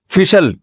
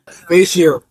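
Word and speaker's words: facial: फिशल फिशल फिशल फैशल। अबे सही pronunciation बुलवाया करो। फिशल ना फैशल। ये अमेरिका से आए हैं। ये सही बताएंगे। जी फेशियल फेशियल।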